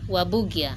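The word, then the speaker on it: Warburgia: Wa like war. Uh-huh. Wa. Bu. Gia. Waburgia.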